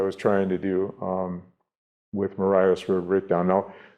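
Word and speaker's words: Marias: trying to do with Mariah's River Breakdown. Now, you say it right, it's really Maria's River Breakdown, because Lewis and Clark named this river after, I think, Lewis's cousin, Maria.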